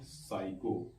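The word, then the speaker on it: psycho: प लिखा हुआ है पी एस एच वाई सीओ से पते साइको यानी कि प अगर एस के तुरंत पहले आता है तो हमेशा वो साइलेंट ता य लि प एस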